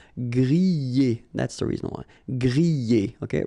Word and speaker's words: griller: Remember, er, because these are verbs here. Griller, pocher, éplucher, okay? You pronounce them e, okay? Even if you get this R, okay? This combination of two letters, R at the end, will give you the sound E.